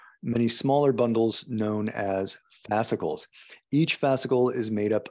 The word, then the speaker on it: fascicles: And muscle cells make up fascicles, and fascicles make up whole muscles. Make up fascicles and fascibles. Make up Fascibles? How do you pronounce it? Fascicles. Okay, Yeah. fascicles. Like popsicle, but fascicle, bicycle, fascicle.